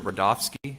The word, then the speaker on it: Rudofski: record special agent Peter rodofsky that's r-u-d-o-f-s-k-i and it's pronounced Rudolph and then all right special agent